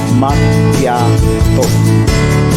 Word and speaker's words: macchiato: sila is maso ah sa Italian po pag nagdikit na yung double C at H ang nagiging bigkas po diyan is K. Ang tamang bigkas po ng is makato.